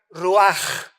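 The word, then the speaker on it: רוח: Y cuando vemos nosotros la palabra hebrea que se tradujo para vientos es la palabra hebrea rua con ch al final que se pronuncia roaj que se traduce espíritu.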